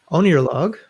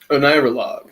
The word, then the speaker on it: Oneirologue: And his film, Oneirologue, did I get that right? Oneirologue. Oneirologue. Yeah, the emphasis on the syllable, is a remembrance of a dream occurring